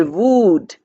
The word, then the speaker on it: would: have o u l o u l are not pronounced in you know the way it is written but it's pronounced as o the short u sound we don't say C we don't say would we don't say should we say should or would or could so short oo sound and I've given you